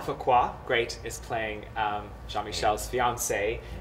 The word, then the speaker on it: Fuqua: Allison, I don't really know how to pronounce her last name. Fuqua. Fuqua, great, is playing Jean-Michel's fiancée, Anne, and her parents are played by Claudia King and Joe Arioli.